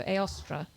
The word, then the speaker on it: Eostra: Yeah, I tend to say Eostra rather than Eostra. So Eostra with the stress on the last syllable.